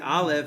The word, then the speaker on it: Aleph: As you'll see, the Aleph, which is air, it's just silent.